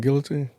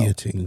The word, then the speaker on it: guillotine: We don't pronounce the L's in guillotine? No, Guillotine. it's guillotine. Yeah, it's guillotine. Damn. You pronounce the L if you ain't got no damn couth.